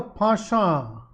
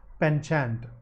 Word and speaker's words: penchant: Humans have a pasha. That's the British pronunciation, okay? The American pronunciation is penchant. Pasha is the British one, and that's because it comes from French.